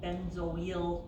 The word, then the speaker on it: benzoyl: So this is benzoyl is how you pronounce it, chloride.